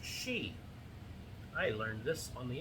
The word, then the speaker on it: Sidhe: Okay, Chapter 6, The Cairn Builders, delves into the mysterious fair folk, the Sidhe, spelled S-I-D-H-E, but pronounced she.